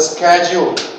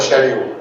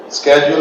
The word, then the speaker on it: schedule: I couldn't follow the schedule then you can say well tomorrow I'll follow the schedule schedule American schedule British but not schedu Bangladeshi schedule Mar ging sh 200% wrong English but educational institutions teach